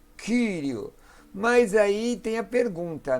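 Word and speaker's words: κυρίου: Tem alguns irmãos que pronunciam como u, né? Tem irmãos que dizem curio, mas eu prefiro como o i grego mesmo, como um u tremado, como do alemão ou do francês, kyrio.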